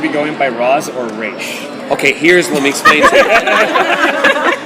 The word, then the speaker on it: Ra's: and you are in the league you say Rach it's a sign of respect it's the it's the proper way to pronounce it if you are outside of the